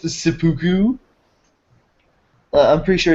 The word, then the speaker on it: seppuku: What if he loses in Worlds and then just commits Senpaku at the end? I'm pretty sure it's pronounced seppuku.